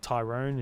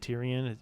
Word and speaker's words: Tyrion: He also mispronounced a whole other whole lot of other stuff like the King Player is the King Slayer and uh Tyrone is Tyrion.